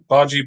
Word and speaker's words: bhaji: Right, Bhaji Burger. Did I pronounce that correct?